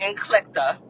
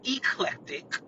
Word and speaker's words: eclectic: He using words like inclecta, pronouncing it eclectic, which neither one of those are actually words. You know what I mean? The word is eclectic, which you should have